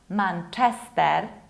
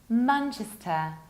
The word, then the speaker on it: Manchester: You have two options of potential pronunciation of this word. You can say Manchester, Chester, with reduced ending, Manchester, or you can say Manchester, like Chester, Manchester, Great Manchester.